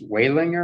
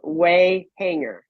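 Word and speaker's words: Wehinger: So is your married name pronounced Walinger or Wheelinger? Yeah, neither. It was Wayhanger.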